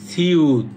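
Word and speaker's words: 시옷: তারপরটা হচ্ছে সিউত। সিউত, এটা একই, যেহেতু প্রথমে এবং মাঝে থাকলে হবে স, নিচে গেলে হবে ত।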